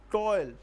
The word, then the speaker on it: toil: It looks like 2 syllables, but it has no 2 syllables, it has only one, which gives the sound of diphthong, diphthong.